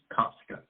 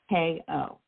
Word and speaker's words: Cosko: Cosko. Okay, but it's not spelled like the very famous Costco. It is Cosko.